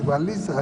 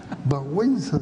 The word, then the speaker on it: Wałęsa: Yo decía Walesa, hablaba de Walesa en Polonia, porque tenía unos amigos polacos que había conocido en México. Y me decían Walesa. ¿Quién es Walesa? Wałęsa se pronunciaba.